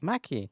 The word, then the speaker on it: Maccy: And how do you pronounce that? Maccy? Maccy.